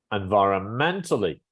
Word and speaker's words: environmentally: Where is the stress? And In both British and American, it's on 1, 2, 3, 4th syllable. It's on the ment. Yeah, mhm. because it's, you see this little line here? That indicates Yeah. that's the following syllable is the stress. So it's environmentally.